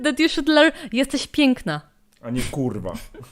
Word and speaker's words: jesteś piękna: Iwan said that you should learn jesteś piękna. A nie kurwa. Say that again, how do I pronounce that?